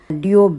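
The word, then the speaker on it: Dior: என்னோட first டியோ back. எனக்கு பிடிச்ச மாதிரி அழகாக அந்த மினி லேடி டியோ அப்படின்னு சொல்லுவாங்க. ஆர் சைலண்ட்டாக தான் ப்ரொனவுன்ஸ் பண்ணணும்.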